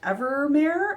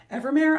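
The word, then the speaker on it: Evemer: I think his name is pronounced Evermare, is how I've been saying it.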